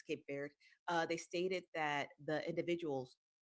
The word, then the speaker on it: Cape Verde: I think I pronounced it Cape Verde, but it's Cape Verde.